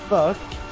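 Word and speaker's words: phoque: But it's pronounced fuck, but it's spelled Papa Hotel Oscar Quebec Uniform Echo.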